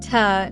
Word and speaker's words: to: Nice to meet you. 2 sounds like ta, not to.